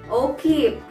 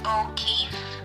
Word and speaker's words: O'Keefe: Ken, what's the right pronunciation? Three is O'Keefe. Yeah, that is right again.